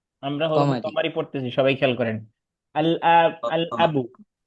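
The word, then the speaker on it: الأب: আল আবু, আল আবুর সাথে ক্লাস তাহলে উচ্চারণ করছি, পারছি কি পারি নাই?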